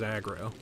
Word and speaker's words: Agro: Yeah, less impeding cuz like aggro uh will just always kind of be where you need to be. Well, that's how the character vocalizes it, but his name is Agro.